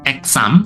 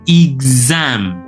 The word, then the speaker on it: exam: Nah, yang kritis di sini adalah pada pelafalan X yang berubah menjadi zat. Ya, jadi tidak S tetapi menjadi zat. Bukan exam tetapi exam. Za za ya exam.